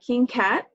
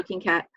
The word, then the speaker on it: Kyngkaht: Okay, so you can find me on Instagram at King Kat, and that's spelled KYNGKAHT. So King Kat.